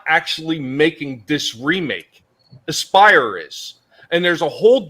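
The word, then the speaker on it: Aspyr: Aspire is Aspire Media. Yes, how it's pronounced.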